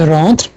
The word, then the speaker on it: rentre: यहाँ R बहुत ही soft में R आएगा, प्रोनाउंस होगा लेकिन बहुत ही हल्के से, इंग्लिश की तरह आगे टंग टच होकर नहीं।